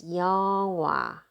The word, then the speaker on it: 영화: So I'm gonna read it as 영화, 영화, a movie.